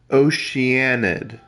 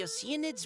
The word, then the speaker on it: Oceanid: It's like they're saying ocean. So ocean. Id. Ocean. At best, you can say Oceanid, or you'd say Oceanid. Honestly, you'd probably just say Oceanid.